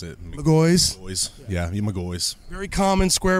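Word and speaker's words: McGaughy's: How do you pronounce it? McGoy's.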